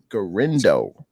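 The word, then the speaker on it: Guerendo: How do you pronounce his name? Last name, Kels? Garindo.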